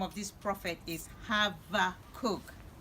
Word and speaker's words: Habakkuk: name of this prophet because I've heard it pronounced in different ways some says Habbakuk and that's the way I've always pronounced it some say no is Habbakuk you know and I went on this other